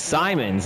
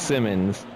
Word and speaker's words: Simons: Oh, it's Simons. Never mind. I thought it was Simmons. Been saying that name wrong the whole time in the first quarter.